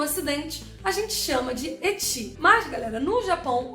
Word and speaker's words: ecchi: Isso porque ecchi vem da pronúncia de H no inglês.